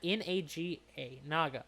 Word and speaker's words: Naga: Is that how you pronounce Naga?